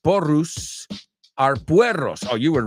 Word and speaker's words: porros: So she says, in Catalan, porros, pronounced porrus, are puerros.